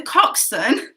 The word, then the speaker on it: coxswain: so not including the coxswain how many rows make up one team in the annual boat race i'm getting told how to say it in my ear so it's spelt very strange so just in case